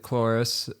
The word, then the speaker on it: Cloris: Well, some people would pronounce it Cloris, and she pronounces it Cloris, and it's the thing is I came across it in a book at my dad's ranch.